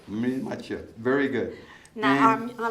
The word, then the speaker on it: Mireille Mathieu: Mireille Mathieu. Mireille Mathieu.